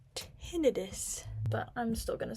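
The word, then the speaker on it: tinnitus: Also, from my tonitis research. Well, one, I learned that it's actually pronounced tinidis, but I'm still going to say tonitis because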